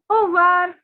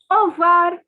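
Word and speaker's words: au revoir: listen carefully it is over over okay now see the word that you can see is but the thing is these french people say it so quickly that all we can hear is over okay so just repeat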